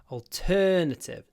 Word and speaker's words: alternative: we have no alternative alternative turn don't pronounce thetive alternative Al turn alter erative double sound t t alternative and it's also an